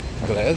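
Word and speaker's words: Glaser: Aproximando da galeria Glaza, se pronúncia correta, ela em alemão, Glés.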